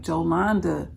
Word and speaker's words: Jolanda: pronounce your name and I was like jolanda joand that's how you pronounce it but you can call